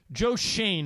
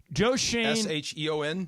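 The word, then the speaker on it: Joe Schoen: pulled the conversation okay yeah this is um Joe Shane is pronounced right yes okay Joe Shane right yeah C but um he's talking to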